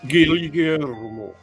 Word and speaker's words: Guillermo: and it's afternoon, and we're spending time with the great Guillermo. Gillian, thank you for pronouncing it the Filipino way.